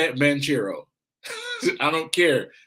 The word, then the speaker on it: Banchero: two or ben caro i hate when they say bank hero bro i listen his is spelt banchero i'm saying manchero i don't care how